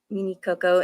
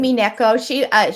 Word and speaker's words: Mineko: I remember there was a page out of the book where um, Mini Coco, am I pronouncing that It's correctly? Mineko. Yes, Oh, Mineko.